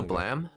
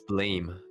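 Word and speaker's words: BLAME!: Blam. Was it blame or glam? It's blame, but it's Oh, pronounced blam. It's like blame manga.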